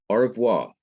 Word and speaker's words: au revoir: wrong in my pronunciation au revoir a-u-r-e-v-o-i-r or avoir i say that so fast that you can hardly hear the e in well this simple shawa